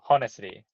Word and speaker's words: honestly: Because less I said so honestly. Honestly, it's more honestly. Honestly. Yeah. H is silent.